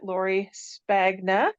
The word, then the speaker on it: Lori Spagna: I am here with my my guest today Lori spagna I believe is how you say your name